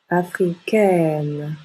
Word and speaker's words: africaine: bouche est plutôt fermée donc au féminin on ajoute un E et on ouvre la bouche africain africaine je suis américain je suis